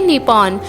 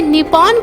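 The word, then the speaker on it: Nippon: अगर आप इसे इंग्लिश में लिखा हुआ देखोगे तो आप इसे निपॉन करके प्रोनाउंसिएशन करोगे, लेकिन असली प्रोनाउंसिएशन इसकी नीपो होगी।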